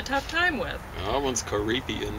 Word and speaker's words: Caribbean: time with loved ones Caribbean that's three syllables and yes for us